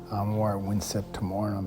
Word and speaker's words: Amor Vincet Timorem: o r e m you don't pronounce the v in Latin it's the W sound I'm more wiet torum and so she well